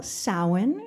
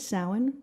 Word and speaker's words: Samhain: So that is how you spell Samhain. That's how you say it, Samhain, for Samhain.